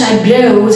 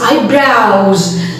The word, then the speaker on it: eyebrows: It's not eyebrows, it's eyebrows. Here, she has very fine eyebrows.